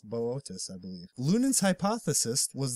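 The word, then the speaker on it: Boötes: constellation of botus now it looks like boots it looks like that's how you pronounce that word but I don't I don't think it's boots it's botus I believe Lun hypothesis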